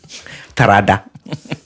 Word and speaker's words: Terada: You pronounced it wrong, but yeah. Yeah, how's it pronounced? Terada.